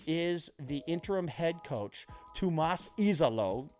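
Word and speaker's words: Tuomas Iisalo: The interim head coach, Tomas Izalo, I went and I got the pronunciation guide. Thank you to the Memphis Grizzlies game notes. He is Finnish. He's from Finland. Tomas Izalo.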